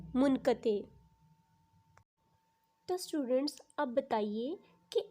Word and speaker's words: منقطع: آپ ذرا سوچیں کہ آپ کون سا لفظ ادا کرتے ہیں، منقطع یا منقطع؟ جی بالکل، اس کی درست ادائیگی ہے منقطع۔ تو اسٹوڈنٹس اب بتائیے کہ ان دونوں میں سے درست تلفظ کون سا ہے؟